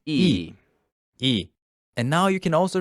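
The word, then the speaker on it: ㅣ: a long vertical line this one looks like a capital i in english doesn't it yes and yes it is pronounced as e and now you can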